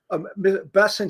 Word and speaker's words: Bessent: It's like, yeah, I mean, they're going to announce, I think, be is it Bessant? Is that how you say his name? Yeah. Bessent said that he's going to come out today and give details.